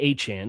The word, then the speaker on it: Etienne: Travis Etienne formerly or formerly Etienne now presumably Achane is how he said he'd like it pronounced.